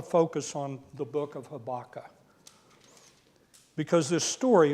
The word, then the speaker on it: Habakkuk: Jonah Mike um naham habaka habak is the way you're supposed to pronounce that but since I'm from Texas I'm just going to say habaka and and leave the last uh uh part off and so habaka is